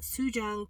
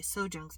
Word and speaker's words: Sojung: I'm sorry, Sojung's birthday. I keep pronouncing her name wrong.